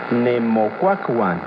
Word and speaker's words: Nemocuacuan: Recuerda que en el náhuatl las palabras se acentúan en la penúltima sílaba. Nemocuacuan.